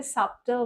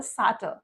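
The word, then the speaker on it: subtle: this two words দেখ আমরা এখানে সাবল বলবো না আমরা এখানে বলব সাল কারণ এখানে বি সাইলেন্ট যদি আমি বলি আমি তার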